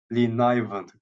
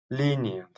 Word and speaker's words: lenient: Fudge had been lenivant. Güzel kelimeymiş. Buna bakacağım. Merak ettim. Nasıl okunuyor? Lenient.